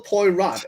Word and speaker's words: Poirot: Hercule Poirot. It's spelled Poirot. Hercule Poirot. Yeah, I'm pretty sure it's French. French. So the T would be silent.